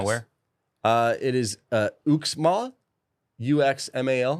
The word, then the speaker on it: Uxmal: It is Uxmal, UXMAL. How do you say that? Uxmal. Uxmal? Usman.